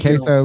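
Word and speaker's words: KaseOh: Real country like Queso like the cheese, right?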